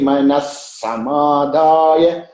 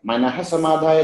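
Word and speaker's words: मनः समाधाय: But when we split and chant together, that visarga will change into sa. Okay? So it becomes yashtavyameveti manas samadhaya sa sattvikaha. Yashtavyameveti manas samadhaya sa sattvikaha. Manas samadhaya. Manah samadhaya ni.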